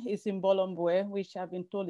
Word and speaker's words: Imbolo Mbue: so my name is in bolomboe which i've been told it's not an easy name to pronounce but it is pronounced in bolomboe and i am like